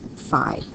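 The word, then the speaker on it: phi: is another Greek letter it's pronounced fi okay so what we're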